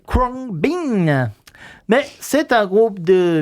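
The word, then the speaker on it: Khruangbin: Prononcé en anglais Kwang Bin.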